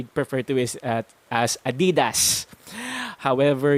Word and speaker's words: Adidas: to is at as adidas however you will want to elongate the a sound at the beginning a little more and flow through the rest of the word without any stresses at all adidas say that for two